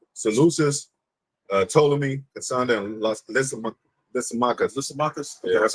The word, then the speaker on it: Lysimachus: Lysimachus.